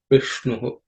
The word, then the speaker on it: Vishnu: are no aspirated consonant, but the ish is a cerebral sh, so the tongue has to be raised. The tip of the tongue should point upwards. You bend the tongue, point it upwards, and say Vishnu.